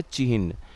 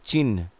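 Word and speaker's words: चिह्न: चिन्ह बोलते हैं देखिए हम लोग बोलते हैं चिन्ह लेकिन यह गलत है इसका सही प्रोनंसिएशन जो सही तरीका है उच्चारण का वह होना चाहिए चिन यह होता है चिन ह पर हलंत होता है ह यहां पर अपने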